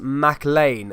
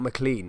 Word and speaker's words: McLean: here um hi dan it's pronounced mac lane not mclean okay mac lane okay